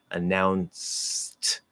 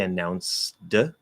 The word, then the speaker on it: announced: it is voiceless so announced just do s into t do not say announced that is possible especially